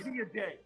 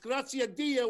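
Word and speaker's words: Grazie a Dio: Grazia Day. What the fuck is that? That's my name. It's pronounced Grazia Dia, which is Italian, which means thank God.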